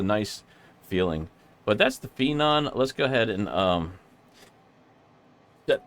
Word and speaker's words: Phenom: That is the Phenom 100, or Phoenix. No, I mean Phenom, sorry. I finally said it right, and then I said it wrong.